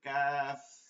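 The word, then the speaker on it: ك: প্রয়োজন দরকার নেই এজন্য উচ্চারণটা হবে পাতলা করে কাফ কাফ মাখরাজটা হচ্ছে জিহ্বার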